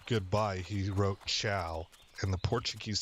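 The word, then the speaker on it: ciao: I didn't know that and Italy Chia is spelled c i AO I think that's the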